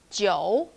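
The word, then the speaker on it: 九: number eight ba okay number nine joe joe it's low tone again and the final is us leo number six leo it pronounced us and combined with a consonant j it pronounced g sound so together it's jo jo e o u together joe so last but not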